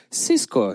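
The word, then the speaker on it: Cisco: будете смотреть та смещается городок циско правильно по вот английски по-американски будет конечно сиско его произносить Но я боюсь что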